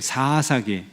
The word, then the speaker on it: 사사기: 발음이 긴 게, 앞에 그 긴 게 그게 맞는 발음이래요. 한번 해보세요. 사사기.